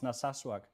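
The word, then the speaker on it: Narsarsuaq: Nasasuak. Yeah. Yeah. It's it's a difficult name to to pronounce, but yeah, it's Naswak.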